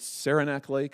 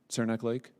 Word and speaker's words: Saranac Lake: You were using it to go to, what is it, Saranac Lake? Is that how I say it? I've never been there. Is that the right pronunciation? Saranac Lake?